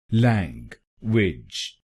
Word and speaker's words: language: तो बनेगा लैंग्वेज, लैंग्वेज, लैंग्वेज, लैंग्वेज, लैंग्वेज, लैंग्वेज। और इस शब्द में आपको पहले शब्दांश पर यानी LANG पर जोर डालना है, लैंग्वेज, लैंग्वेज।